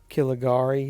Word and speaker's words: Caligari: Caligari, is how you pronounce it.